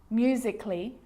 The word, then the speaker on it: musically: Now, the letter A can be silent, especially in words that end in A-L-L-Y, like these. Romantically, musically, logically. So I'm not pronouncing romantically, musically, and logically. Cut the A out. Get rid of it.